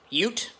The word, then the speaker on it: ute: ute bed on it ute spelled u-t-e pronounced y-o-o-t ute u in australian basically